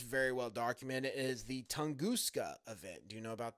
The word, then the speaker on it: Tunguska: Well, not Tunguska. Tunguska.